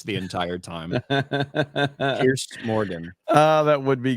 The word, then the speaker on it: Piers: I think Jay should go on there because Jay doesn't even know how to pronounce his name. So it'd be funny to watch him call him Pierce the entire time. Piers Morgan.